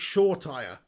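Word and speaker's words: Shoretire: young she says pig you need to start pronouncing it shaw tire and then he'll start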